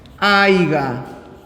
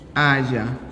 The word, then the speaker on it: haya: Como por ejemplo, no se dice aiga, coma, sino haya.